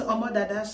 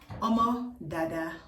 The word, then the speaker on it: Omo Dada: Omo Dada. Omo Dada. Whatever way. I don't know. Om dada. Omada. Yes, that's how you pronounce the name cuz that's the nickname my parents gave me and all the family friends call me that too.